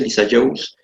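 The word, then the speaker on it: Lissajous: mi mano okay continuamos figuras de Lisa Jones así se pronuncia Lisa Jones este señor fue el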